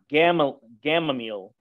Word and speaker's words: Gamaliel: So these were the type of teachings that Paul was receiving over that 25-year period under Gamaliel, I believe the pronunciation is.